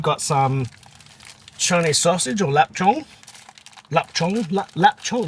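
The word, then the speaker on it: lap cheong: some Chinese sausage or lap Chong lap Chong lap chong laap chong I think it is pronounced l u p but it's spelled l a p let's go three I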